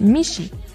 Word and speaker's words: Mixi: Decidí nombrarlo Mixi. Mixi es la palabra en lengua otomí que significa gato, que bueno, en realidad la pronunciación correcta es Mishi.